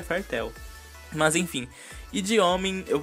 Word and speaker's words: Fairy Tail: fala fartel Fairy Tail Eu sempre falei Fairy Tail mas de acordo com o Google a pronúncia correta seria fartel Mas enfim de homem